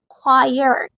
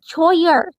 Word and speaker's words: choir: Nah ini contohnya ada choire choire itu paduan suara Oh teman-teman jangan jangan salah ya ini dibacanya bukan chir Choir tapi itu paduan suara terus